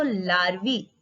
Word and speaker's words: larvae: अब ये mosquito लार्वी spelling देखिए LARVAE।